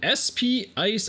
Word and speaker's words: SP Ice: I think they're probably supposed to be pronounced Spice, but we call them SP Ice because it's more fun.